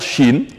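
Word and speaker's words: شين: lire cha cha cha la lettre chine de son nom se prononce exactement comme la chine aux pays de l'asie chine chine chine de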